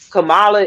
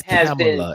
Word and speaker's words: Kamala: say what they want Camala is already vice president she it's camela it's camela don't say her name wrong camalo CER whatever